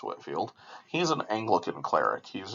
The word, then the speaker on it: Whitefield: bit more detail George Whitfield I know it looks like Whitefield but is pronounced Whitfield he's an Anglican cleric